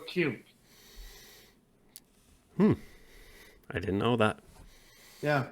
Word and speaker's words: Kirk: It's actually not pronounced Kirk in Mexico. It's actually pronounced Alejandro Q.